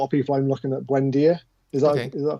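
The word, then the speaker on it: Buendía: Like a lot of people, I'm looking at Buendia. Is that pronounced right?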